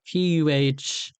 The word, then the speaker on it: Paladin: As in, it's pronounced as in like Puhladin.